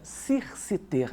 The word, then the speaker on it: circiter: O Romano Amério vai pegar um advérbio latino, circiter, escreve C-I-R-C-I-T-E-R, seria circiter, né? A pronúncia eclesiástica seria circiter.